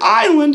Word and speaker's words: island: So you can remember that the word island, even though it is spelled I-S-L-A-N-D, really sounds like I land, because the pirate alone